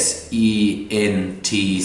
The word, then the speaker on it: sent: n D นะ ครับ ช่อง 2 S E N T 2 ออก เสียง T ให้ ถูก ต้อง นะ ครับ Sent ช่อง 3 S